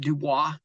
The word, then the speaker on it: Dubois: at pronouncing stuff like City in Idaho will be spelled you boys right we call it Dubois but the French would pronounce it Dubois and then uh Coeur